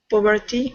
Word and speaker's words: puberty: Girls usually reach puberty about a year before most boys. Most boys. Mm-hmm. Okay. Puberty, more U sound. All right, like pure. Puberty. Puberty. The T Yeah. doesn't sound.